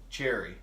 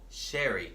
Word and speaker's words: sherry: airy there you go now you're saying it right cuz you were saying cherry oh sherry there you go oh let's see H in the SH yeah English is my